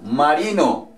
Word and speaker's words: marine: Por ejemplo, marino. Marin. Marin. Que sería marine. La E al final no suena.